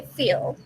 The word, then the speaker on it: feel: But if that L is at the end of a word, that L is pronounced like at the back. So we say light, but we say feel.